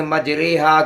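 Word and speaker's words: مجریها: ہود میں بسم اللہ مجریہا کے الفاظ میں پایا گیا ہے۔ اصل اس کی مجراہا تھا، پھر چونکہ امالہ ہے اس لیے اس کا تلفظ یا مجہول کی طرح پڑھا جائے گا۔ یا مجہول اردو میں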